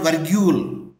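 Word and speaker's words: virgule: never say these three students it is called vargul v i r g u l e I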